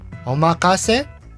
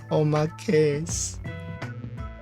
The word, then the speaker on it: omakase: So, omakase? No. Oh my case.